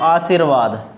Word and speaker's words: आशीर्वाद: तो इसे पढ़ेंगे आरसीवाद, यानी कि रै जिस पर लगता है उससे पहले बोला जाता है।